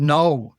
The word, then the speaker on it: know: So if you were to apply the same logic to English, you wouldn't even understand it, even the word know, KNOW.